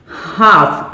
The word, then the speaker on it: half: हाफ past, HALF, हाफ। आप देखिए मैं इसमें L को साइलेंट कर रही हूं। L हमने नहीं बोलना है, हमने क्या बोलना है? स्पीकिंग करते हुए किसकी प्रोनाउंसिएशन होगी? हाफ।